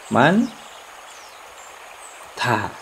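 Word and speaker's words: 많다: Jadi man ta. Ini pengucapannya saja ya, bukan penulisan.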